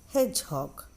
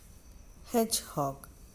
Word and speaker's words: hedgehog: Hedgehog. Hedgehog. Though D is there, you should not pronounce D sound children.